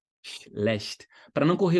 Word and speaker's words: schlecht: Sh, sh, schlecht, schlecht. Para não correr o risco de você querer colocar um I, fazer ish, ish. Não tem som vocálico aí, é só chiado, ó, o comecinho, né?